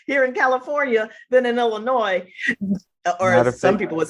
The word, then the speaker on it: Illinois: in California than in Illinois or some people would say Illinois which I want to hurt them right when they do Illinois right I don't know that that s is silent forever and always I'm forever and always